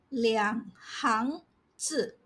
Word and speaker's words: 两行字: When this Chinese character refers to rows, columns, or groups arranged in order, it is pronounced as 行 and not 行. For example, 两行字, two lines of text.